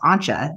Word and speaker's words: Anja: So she read it and I said, yeah, Anya. And she said, it's pronounced Anja. It's a German name.